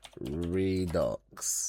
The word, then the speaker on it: redux: How to pronounce redux? I think it's redux. It's redux. Like it is. Okay. Re and ducks. Yeah. Okay. So, the X isn't silent.